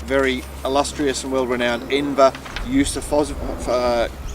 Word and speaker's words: Yusufovic: The market reads $3.60 O'Malley, who is trained by the very illustrious and well-renowned Enver Yusufovic.